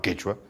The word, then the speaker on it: quechua: Hay dos repúblicas donde dicen quichua y no quechua, el Ecuador quichua, Argentina quichua, pero estas son designaciones periféricas de la lengua, de la familia, y además pronunciadas así porque así se pronunciaban en las zonas donde se usaba la expresión.